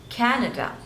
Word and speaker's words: Canada: Cameroon Cameroon next is Canada so three syllables and stress is on the first one Canada Canada Canada next